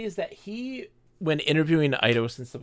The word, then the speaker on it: Eidos: I think what happened in reality is that he, when interviewing Eidos and stuff like this, saw the fan mail, saw the artwork. Eidos? Eidos. It is pronounced Eidos.